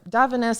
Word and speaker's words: Davines: It's kind of spelled like Divines.